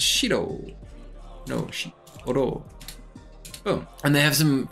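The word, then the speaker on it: 白: think but the vocab reading is different it's shiro oh and they have some some really cool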